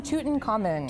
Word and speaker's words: Tutankhamun: Can you pronounce it the correct way for us? Sure, King Tutankhamun. Tutankhamun, I've been practicing that.